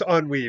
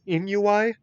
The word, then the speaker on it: ennui: I mean, um, but yes, I know it's ennui, but okay, for like 30 years, I've pronounced it as Inuai and thought that ennui was a completely different word.